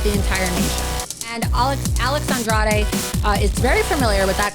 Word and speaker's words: Andrade: Alex Andrade has been in the news this week. Been quite controversial here in Florida, but I'm actually loving it. Alex Andrade, that's how you pronounce his name, a very exotic sounding name.